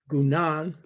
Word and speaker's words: Guénon: A man named Rene Guénon, and his name is spelled Guenon.